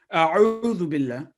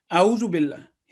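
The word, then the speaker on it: أعوذ بالله: A'udhu billahi minash shaytanir rajim. Correct pronunciation would be A'udhu billah.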